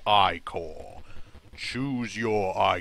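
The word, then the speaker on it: Ichor: can fill it with magical I call that's pronounced I call choose your I call wisely I'm go to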